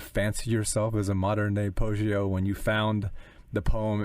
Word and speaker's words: Poggio: That is it pronounced Poggio? Yes, but no, he wasn't a monk.